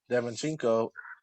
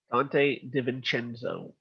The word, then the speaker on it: DiVincenzo: the Bucks, one of their best bench players, Devinchenko, or is that how you say it? Dante DiVincenzo.